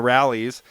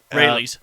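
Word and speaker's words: Raley's: At 7 o'clock, we're going to talk about a man that was living in Fernley in a Rallies. yep, Rayleigh's. Rayleigh, sorry. Yeah, that's how you say it.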